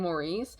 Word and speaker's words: Maurice: I keep saying both Morris and Maurice because I think the reason why it's pronounced differently is just because like Maurice is obviously a French name and that's how you say it in French, Maurice. But then I guess with like a British accent, they say the name like Morris.